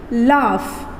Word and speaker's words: laugh: COUGH का pronunciation है कफ, COUF, कफ, sound आ रहा है कफ। ROUGH साउंड आ रहा है रफ, रफ। LAUGH, लाफ, LAUGH, लाफ। ENOUGH, enough.